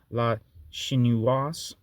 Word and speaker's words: La Chinoise: Wave cinema, Jean-Luc Godard, La Chinoise. Chinoise? I don't know if I'm pronouncing that right. L-A space C-H-I-N-O-I-S-E. I think you pronounce the S if there's an E in there. So, La Chinoise.